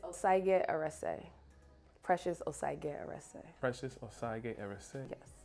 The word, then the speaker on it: Osagie-Erese: It's Osagie-Erese.